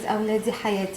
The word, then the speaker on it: awladi hayati: a parent's word that they say, which is awladi hayati, and that means like my kids are my life. Could you spell that?